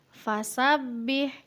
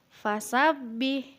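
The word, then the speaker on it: فسبح: hiap wajah ayat ke-3 fasabbih huruf bertasydid dibaca rangkap atau ditekan Coba diulang fasabbih selanjutnya rok BK ini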